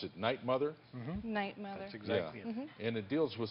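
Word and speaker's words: 'night, Mother: is about the show called how do you pronounce it night mother night mother exactly and it deals with suicide yes tragedy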